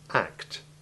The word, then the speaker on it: act: It is important to make sure that each letter is sounded in the combinations CT and CTS. It's very easy to lose the T sound in act and fact, and to slur the plurals.